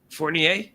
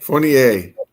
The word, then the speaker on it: Fournier: Toby Fournier, is that how you pronounce it, Rob? Fournier. Okay. Fournier. Toby Fournier. It is French. Fournier.